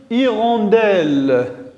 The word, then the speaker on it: hirondelle: on dit une hutte c'est la même chose pour le deuxième au monde et on dit une hirondelle hirondelles la lettre h et muette il ne se prononcent pas et dans cette séance